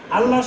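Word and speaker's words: الله: তাহলে আমরা কি পাইছি আল্লাহ শব্দ পড়ার জন্য মোটা পাতলা পাতলা আল্লাহ শব্দের ডানে জবর আর পেশ থাকলে মোটা আল্লাহ শব্দ ডানে জের থাকলো কি চিকন মানে পাতলা এখন উচ্চারণ আস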